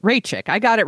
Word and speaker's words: Raichik: person name uh I wrote it down corre phonetically here for myself CH rayi yes that's right Ray chick I got it right that's who we're going